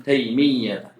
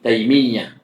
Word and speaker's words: Taimiyah: Kata Syekh, qala Syaikhul Islami Ibnu Taimiyah. Ya, Syikhul Islam namanya Ahmad Ibnu Abdul Halim ibni Taimiyah. Yaknya ditasydid ya ta marbutah taimiyata ya dia mamn sarf karena alamiah maaan b alif.